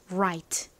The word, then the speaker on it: right: 모음과 만났으니까 라가 아니라 와 비슷하게 발음이 됩니다 right 이렇게요 right 따라해 보세요 right